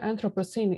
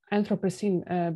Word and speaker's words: anthropocene: uh well the word anthropocene is derived from Greek anthropo for men and seen for new it although it does rhyme with appliestocene Holocene and so on it's